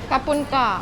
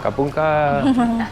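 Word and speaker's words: ขอบคุณค่ะ: Kapun ka. Kapung ka.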